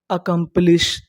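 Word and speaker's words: accomplice: आपको मैं बता दूं अगर आपको इंग्लिश के किसी भी मीनिंग के आखिरी में इ लिखा मिले तो हम लोग इ का उच्चारण नहीं करते।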